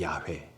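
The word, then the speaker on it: 야훼: 이렇게 되는 거죠 자 여호와의 정확한 발음을 아시나요 내 야외에 맞습니다 야외 이스라엘 사람들은 요 아 너는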